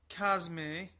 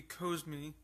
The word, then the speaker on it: Cosme: Today's wine will be a 2015 Saint Cosme. I think that's how it's pronounced, or it could be Cosme, but it is from the Cotes Du Rhone appellation.